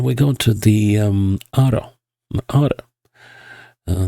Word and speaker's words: Ağrı: Uh that's supposedly how it's pronounced region. Although you could also call it Agri. So but I'll try to call it Ara. Um at least that's what the pronunciation guide I found tells me.